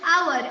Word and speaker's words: hour: Do not take more than dash hour. H is silent here.